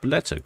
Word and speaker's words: Bolette: and then beteta and we now know it is pronounced beteta cuz we've heard it on the radio sley suet almost visible